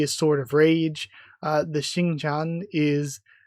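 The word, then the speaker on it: Xingtian: The Xingqian is, at least I think that's how that should be pronounced. Shouldn't the X be a sh sound effect and the TI like Xingqian?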